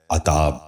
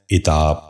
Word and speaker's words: عتاب: غور سے سنیے، عاکف۔ چھٹا لفظ ہے عتاب۔ یہ غلط تلفظ ہے، درست تلفظ ہے عتاب۔ دوبارہ سنیے، عتاب۔ بچوں